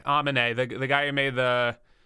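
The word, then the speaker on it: Aminé: his name oh yeah he gets mad if you say he's anime Amin a the guy who made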